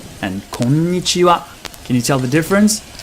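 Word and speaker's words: こんにちは: Konnichiwa and konnichiwa. You probably come across content about pitch accents. In Japanese, we call that kote accento. Kote accento. And it's slightly different than the English stress because it's not just one stressed syllable, but kote means high and low. So each syllable will either be high or low.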